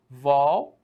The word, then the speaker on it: revólver: Eu faço o seguinte, revólver, massa. Perceba então que ela é uma trissílaba, ela tem 3 sílabas diferentes. Bacana. E aí eu digo, onde está a força dessa sílaba? Tá na última sílaba? Aí tu olha pra mim e fala, não tá aí. Tá onde? Tá na penúltima sílaba. Opa, se ela está na penúltima sílaba, ela só pode ser uma paroxítona, beleza?